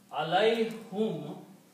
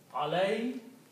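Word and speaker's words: عليهم: To make it easy on the tongue, it is pronounced alayhim.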